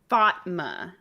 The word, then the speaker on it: Fatma: one quick thing um she's saying it's pronounced Fatma like duh just just as a little